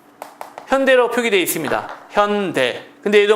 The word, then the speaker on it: 현대: 이걸 어 우수 개수리 현다이 현다이 이렇게 얘기하는데 발음되는 대로 읽으면 현이입니다 현다이 현다이 아니라 현대 할 때는요 a AI 아니라 ae 되는 거죠 하지만 이렇게 어 원래대로